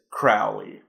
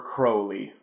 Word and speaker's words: Crowley: This is Crowley. Or Crowley. They pronounce it both ways in the movie, but, you know, Ozzy calls him Crowley, so I'll stick with Crowley.